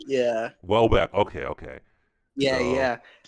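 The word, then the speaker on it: Houellebecq: Welbeck.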